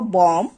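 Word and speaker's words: bomb: যেমন শব্দের শেষে যদি এমবি থাকে তাহলে সেক্ষেত্রে শেষের যে বিটা থাকবে সেটাকে উচ্চারণ করতে হবে না বা সেটা উচ্চারিত হবে না।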